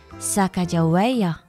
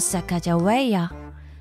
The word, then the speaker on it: Sacagawea: She has a fancy name, Sacagawea. You say it like this, Sacagawea.